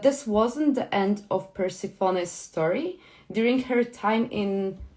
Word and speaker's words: Persephone: Because the story of Persephone, I always pronounce her Persephone. Yeah, Persephone.